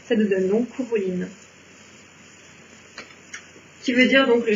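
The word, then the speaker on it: Cú Chulainn: Le coup ça va, le CH en fait il se prononce rare, on va le chercher au fond de la gorge et puis on va oublier le A en cours de route.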